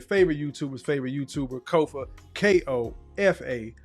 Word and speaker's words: Kofa: Ko, FA, not coffee, not Kufu, not Kofi, or any variation thereof. Kofa rhymes with sofa.